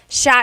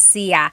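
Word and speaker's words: siya: The s i y combination makes that sha- sound. It looks like it should be pronounced sia. There are some regions in the Philippines, I believe, that say sia, but usually in the central Luzon area, it's pronounced sha sha.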